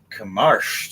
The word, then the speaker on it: Kamarsh: we now are on Kamarsh's turn. Did I say it right or did I fuck it up again? You said it right.